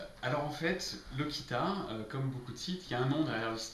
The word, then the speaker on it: LOCITA: première question c'est pourquoi ça se prononce moi qui t'a et pas le Sita alors en fait le Kita comme beaucoup de sites il y a un